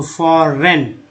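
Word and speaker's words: foreign: फॉरेन, GN को ना बोलते हैं, एक्चुअली जी जो है साइलेंट, इसमें एन का उच्चारण हुआ है, तो फॉरेन।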